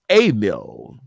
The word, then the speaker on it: Emil: And properly pronounced, it's Emil. Okay, you got to put that French thing on there, right?